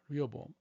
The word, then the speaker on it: Rehoboam: 요 사람들 말, 두 번째 읽으면 these young men had no more experience than did Rehoboam himself. 그러니까 르호보암보다 영어로는 리어보암이라고 읽어요. 리어보암.